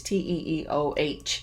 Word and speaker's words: Teo: I think I'm pronouncing it correctly. It's TEEOH. And I believe that one is out on Republic right now.